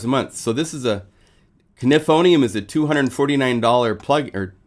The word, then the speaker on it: Knifonium: If you want information on Knifonium, actually it's Knifonium. I gotta say it right. I said it Knifonium for a long time, and then I found out it's Knifonium with a K.